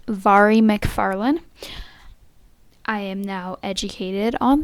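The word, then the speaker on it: Mhairi McFarlane: Now we're going to move on to their last book, Between Us by Mahara McFarland. I'm pretty sure that's how you pronounce her name.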